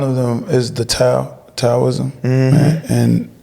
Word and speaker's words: Taoism: them is the tao taoism and in Asia they would be pronounced dowoism but um and